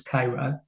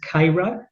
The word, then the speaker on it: Cairo: to Cairo Illinois it's spelled Cairo but it pronounced as Cairo um Stuart had kind of given me a heads up of what I could expect at k-ro and sure enough big description was very good